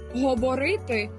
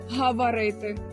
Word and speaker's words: говорити: гортанний звук усе нормально у нас немає акання молоко а не малако говорити а не гаварити не цікаємо і не